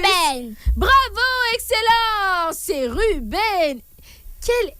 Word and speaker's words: Ruben: Ruder. Pardon? Ruder. Aïe. Prononce Mal très bien. prononciation. Prononce bien, ma chérie. Il ne faut pas souffler, ma puce. Ruben.